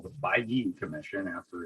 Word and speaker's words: Bailly: So I learned that it's Jean-Sylvain Bailly. So Bailly, and my notes are over here.